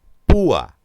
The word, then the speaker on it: púa: Púa, igual, cerrada con abierta, la cerrada es tónica, lleva tilde y se produce el hiato.